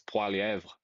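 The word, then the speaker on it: Poilievre: Well it's because it's not pron the thing is it's an anglicized pronunciation isn't it? His name is not Polyv. It's Palev.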